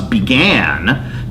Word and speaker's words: began: Thus, began can alliterate with great and gods, because the accent is on gan, not began.